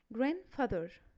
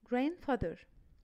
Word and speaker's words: grandfather: don't pronounce the letter D if it comes after the letters N.